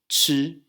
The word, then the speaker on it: 吃: So basically we pronounce this sound in the same place as 知, but instead we have a little raised H here, which stands for aspiration.